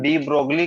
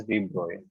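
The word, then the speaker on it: de Broglie: Okay, कुछ लोग इसको डी ब्रोगली करके भी बोलते हैं, बट इसके जो करेक्ट प्रोनाउंसिएशन है इसके नाम की, that is डी ब्रॉय। इट इज a French scientist, ठीक है।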